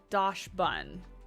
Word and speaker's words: Dachsbun: Oh, I love, I want to say it, Dachsbun, because like Dachshund is how you say, like it's spelled the same, right? But I think it's Dachsbun. Dachsbun, I think.